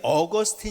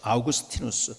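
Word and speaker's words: Augustinus: 사람에게 병을 좋습니다 여러분이 어거스틴 일하는 사람을 너무 잘 할 것임이라 우리가 어거스틴은 영어식 발음이 고 아우구스티노 스 라고 이야기를 하시 아우구스티누스 똑같은 이름이죠 이것은 아 라틴어로 발음할 때 그렇습니다 기독교 공인 된 지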